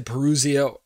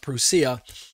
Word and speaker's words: parousia: When I say the parousia, some people say parousia or something like that. But I believe the Greek is pronounced parousia.